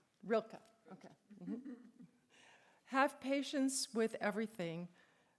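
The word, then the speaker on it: Rilke: the um author is is u rainor Marie Rilkkey. And you need to study theology to know how to pronounce that name. I think Rilka.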